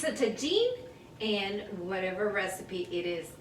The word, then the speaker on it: tagine: It's a tagine, and whatever recipe it is that you cook in the tagine.